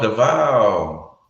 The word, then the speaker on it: Davao: Like, what is the correct pronunciation? Is it Davao? Oh, Davao.